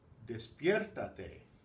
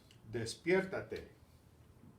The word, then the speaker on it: despiértate: me to wake up despiértate and we had in this syllable we had to keep the stress on the same syllable it had without the reflexive Pepito is stop there